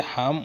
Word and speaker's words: হাম: পৃথিবীতে মানবজাতির বিস্তার ঘটায় হাম আলাইহি সলামের নাম আরবিতে হাম উচ্চারণ হয়।